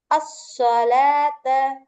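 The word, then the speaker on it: الصلاة: ஃபத்ஹாவை தொடர்ந்து வாவ் இருக்கு வாவுக்கு ஹரக்கத் இல்ல அப்போ இதை உச்சரிக்காம அஸ்ஸலாத்த அஸ்ஸலாத்த அப்படின்னு தான் நீங்க வந்து உச்சரிக்கணும் வாவ உச்சரிக்க கூடாது சில இடத்துல குர்ஆன்ல வாவுக்கும்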